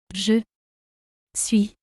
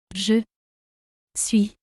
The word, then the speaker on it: Je suis: Je suis. Je suis. The letter S at the end not pronounced.